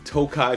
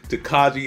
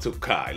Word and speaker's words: Tokaji: your host Marin today we've got the Penelope Tokai finish now look I know the front looks like it says taji but it is not pronounced taji it is pronounced toai let's get it bottle drop bottle drop